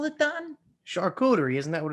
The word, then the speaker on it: charcuterie: something simple jerk man you you just totally butcher the english language you really do you just totally well it's a checkudery board shark rotary i call it what do you call it don charcuterie isn't that what it's called you know how